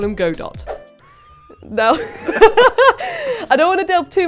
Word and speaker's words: Godot: right trials and tribulations I later found out it's pronounced God oh but I don't care he's my boyfriend and I'll call him Godot though I don't delve